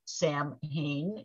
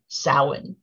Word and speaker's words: Samhain: stories that have also cleverly fictional characters named sam hayne um including the 2007 movie trick or treat the actual pronunciation is samhain and the word is not the name of